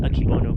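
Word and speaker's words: Akebono: uh brakes i missed i said it wrong in the last video but they're pronounced akibono but yeah those brakes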